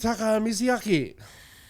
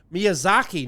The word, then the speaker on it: Miyazaki: You did Mizyaki. You always know that. Oh, sorry. I I mispronounced that horribly. Miyazaki, not Miz whatever I said.